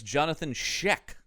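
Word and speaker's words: Johnathon Schaech: Uh his name is Jonathan Sheek is how that's pronounced. Sheek.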